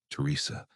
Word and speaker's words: Teresa: Exactly like Ray, the same cadence, the same accent, the same way he pronounced my name with the emphasis on the second syllable. "Teresa, please, I'm hurt.